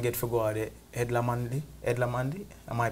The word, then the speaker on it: Edna Manley: Edna Manley. Edna Manley. Am I pronouncing it right? It's Edna Manley.